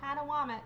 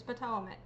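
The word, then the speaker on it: Patawomeck: It's not Padawam. It's PTOC.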